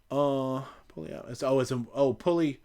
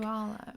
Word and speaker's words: Puyallup: Pulley up.